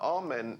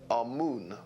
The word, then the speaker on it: Amun: important deities was amen now amen is the pronunciation that the Hebrews give it and some Scholars agree to use that pronunciation amoon is the pronunciation given to it by one of the old European scholars plutar in the language